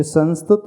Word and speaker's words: संस्तुतः: फिर संस्तुत शब्द लिखा है, उसके पश्चात भी विसर्ग है, तो संस्तुतः ऐसा उच्चारण करना।